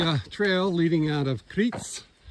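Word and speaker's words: Criț: So, here's the uh trail leading out of Critzel C R I T, but the T is pronounced like a T S.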